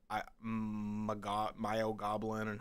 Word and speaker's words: myoglobin: It is myoglobin. And I don't mean that in a mean way or anything like that, but that red stuff is not blood. It's actually a chemical called myoglobin.